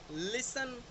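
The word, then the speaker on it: listen: कुछ English common words हैं जिसमें टी जो है वो प्रोनाउंस्ड नहीं होता। लाइक castle, Christmas, fashion, लिसन, often, बैरे, शेवरले, whistle, thistle, बसल और Hesson, सॉफन, repo, गॉर्मे and ballet.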